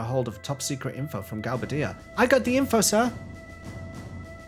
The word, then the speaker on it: Galbadia: Galbadia.